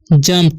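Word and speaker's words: jumped: इसे पढ़ते हैं द वुल्फ जंप्ड। इसे जुम्प्ड नहीं पढ़ते हैं, ठीक है। यू का उच्चारण अ हो रहा है, ठीक है।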